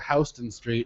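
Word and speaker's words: Houston Street: idiot idiot it's like in New York they have hon Street yeah it's like really you know there's a major city it's not named hon but it's spelled the same way but um so there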